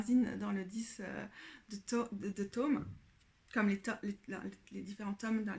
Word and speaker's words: tome: dans le 10 de tomes comme les différents tomes d'un livre. Tome. Il y a un M en français, ça se prononce tome.